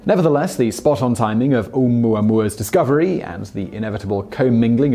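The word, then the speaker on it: ʻOumuamua: some equally unwieldy) nickname ‘Oumuamua was given by the Pan-STARRS team that discovered it. Pronounced oh-MOO-uh MOO-uh, the word is Hawaiian for “messenger from afar arriving first,” and it’s particularly apt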